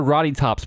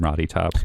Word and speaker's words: Rottytops: Oh, Roddy Top. Like rotten. I can't really explain the name Roddy Tops, but Oh, that's she's what the it is.